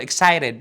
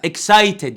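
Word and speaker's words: excited: متحمس يعني ايه اكسايتد انا ميش دعوه بالاكس مش اقول اكسايد لا اكسايتد عادي حلو نطقتها ازاي اكسايتد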